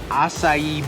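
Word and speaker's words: açaí: here for the juice we actually got an acai bowl that's how you pronounce it so we have the nectar acai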